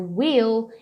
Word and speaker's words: will: Uma pronúncia aqui importante de marcar do will é marcar esse L final, tá? Não é will. Então fala assim, ó, will, segurando o L lá em cima.